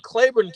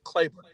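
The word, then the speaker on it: Claiborne: Miss yes 1966 in clayon County Mississippi it was and spell it c l a i b o r n e clayon it is huge man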